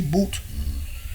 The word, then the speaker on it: Bout: his name Victor boot or boot are you pronouncing right b-o-u-t boot he's a um he's a gun was it